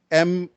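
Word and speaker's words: Marjoe: Marjo, right? Marjo. Okay. Yeah, it's about a guy named Marju, and the reason they call him Marju is because it's Mary and Joseph.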